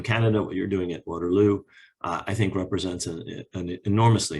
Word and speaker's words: Waterloo: Let me begin by thanking what I now know to pronounce as Waterloo University. I would have said Waterloo, and especially the people